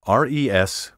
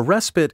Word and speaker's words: respite: often mispronounced respite a respite is an interval of rest or relief a lull Hiatus as a vacation is a respite from work take care to stress this word on the first syllable respite throughout the verbal